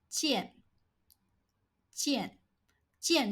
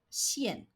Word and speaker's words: 见: 见,见,见 means to see or to meet. This character has another pronunciation, 线, but it is not used anymore.